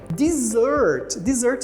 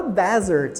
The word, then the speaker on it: dessert: a sobremesa dessert e cuidado para não falar Desert Ok às vezes a gente escuta muito aluno falando Desert porque Desert significa deserto Então se tivesse somente um s você tá se referindo ao deserto e aí vai ser